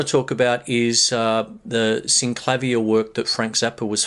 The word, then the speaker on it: Synclavier: work with the Synclavier, or as some people pronounce it, the Synclavier. And I call it the Synclavier, which is the Australian way of doing it, I suppose.